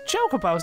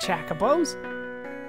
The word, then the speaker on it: Chocobo: Mughal in this game your pronunciation is all wrong it's chocobos not chakos well there is another